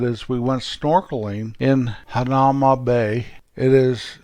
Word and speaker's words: Hanauma Bay: it's actually shelter bay the locals don't called hanauma bay they called Hanauma because the bay is